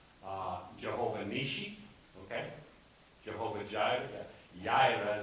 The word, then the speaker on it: Jireh: Jehovah Jireh, Jireh is the way to say it, which means the Lord who provides.